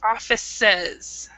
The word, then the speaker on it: offices: And also remember, in English, when you have a es at the end like this, we still pronounce the e, so we say offices.